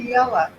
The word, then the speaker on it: Cortiella: Cortiella. Cortiella. Thank you. Thank you. I always mispronounce it, so I didn't want to do that today.